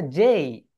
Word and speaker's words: J: এটাকে আমরা সবাই কি বলি বলো তো? যে বলি। বাংলাদেশিরা সবাই এটাকে যে বলি, কিন্তু এটা রাইট প্রোনাউন্সিয়েশন হবে যেই।